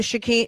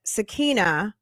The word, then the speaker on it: Sakina: We're going to do a sha uh I keep saying sha but sakia sakina. There's no h in it and I keep pronouncing it with an h.